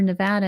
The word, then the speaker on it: Nevada: but here in Nevada or Nevada is how they say it here I I keep having to remind myself it's Nevada not Nevada I'm used to Nevada um they found a